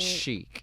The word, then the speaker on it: chic: She says, cheek or cheap. which is a mispronunciation of chic.